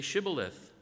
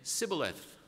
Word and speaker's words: Shibboleth: And if he would say no, they would say to him, "Then say Shibboleth." And he would say Sibboleth, for he could not pronounce it right.